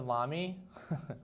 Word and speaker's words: Lamy: Wait, I've been saying Lamy wrong. It rhymes with mommy.